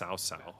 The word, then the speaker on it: Cao Cao: But I didn't know that in Chinese, it's based off the Chinese legendary warriors, like real warriors. That it's pronounced Cao Cao.